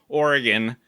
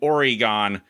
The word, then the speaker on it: Oregon: Oh, because I looked up the pronunciation for Oregon, and in the dictionary it says Oregon, and then Oregon by outsiders.